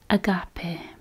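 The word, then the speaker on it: αγάπη: And love is pronounced agape. Agape? Agape.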